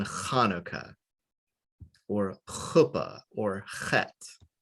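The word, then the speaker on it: Chanukah: english letters as transliteration the ch always makes a ha like in hanukkah or a puppet or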